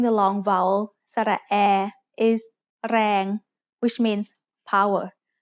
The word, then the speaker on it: แรง: A word using the long vowel สระแอ is แรง which means power. แรง has a low-class consonant and a live ending, so it is pronounced mid-tone.